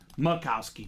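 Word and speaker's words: Majkowski: macowski it looks like matowski but it's actually pronounced Makowski Colin Makowski H so very cool so Brett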